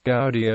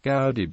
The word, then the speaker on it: Goudy: However, I find that occasionally a stranger pronounces the word with ours long O in go, sometimes as our in soup, or goo, and less frequently with the ours oo in good. I retained the original pronunciation with ours in out."